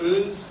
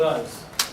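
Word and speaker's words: Uz: way over the last week I also check pronunciation some people call it the land of oo some people call it the land of O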